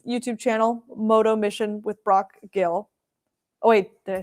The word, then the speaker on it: Brock Gill: But it's on his YouTube channel, Moto Mission with Brock Gill. Oh wait, did I say it wrong again? Yeah. Yep. You I said got it it. right. Okay, Yeah. Brock Gill.